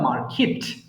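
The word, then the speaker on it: market: ক্যান বাই মার্কেট okay story book from the মার্কেট from the মার্কেট okay I ক্যান buy story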